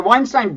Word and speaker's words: Weinstein: yeah one of the two wine Stein's the weinstein brothers are both members of the dark web